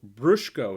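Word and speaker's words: Bruchko: This one is called Brushko, is how you pronounce that, and the Metaloni Miracle.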